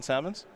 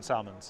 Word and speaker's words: Salmons: John Salmons? John Salmons. It was Salmons, right? Yeah, yeah Salmons. So like multiple, like the plural of salmon.